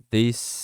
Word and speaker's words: this: Aqui você vai falar com som de D, mas ao mesmo tempo é um som de Z, mas na real não é nenhum dos dois. Você vai colocar a língua entre os dentes, sem apertar, sem fazer careta ou algo do tipo, e sem colocar a língua toda para fora. É só a pontinha da língua e vai falar this.